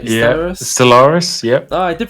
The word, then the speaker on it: Stellaris: Have I pronounced that right? Yeah, Stellaris, yep.